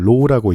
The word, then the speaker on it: rho: 이 문자는 좀 익숙하지 않을 텐데 RHO 이렇게 검색해보면 로우라고 읽습니다.